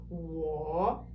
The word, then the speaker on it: 我: 我, it's descending and then ascending.